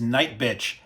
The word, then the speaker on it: Nightbitch: director Mariel heler is night and I'm putting the emphasis on the first part of that and not the second because then it sounds like you're ending a date in a really horrible way this is a film